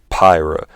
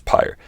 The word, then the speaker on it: Pyre: starting with bastion transistor pyro or pyre i believe that's how you say it pyre i'm pretty sure it's pyre and the subject at